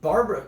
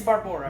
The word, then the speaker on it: Barbora: Barbara, or I think it's Barbora. Barbora. I'm guessing you pronounce it that way. It's Barbora. But yes.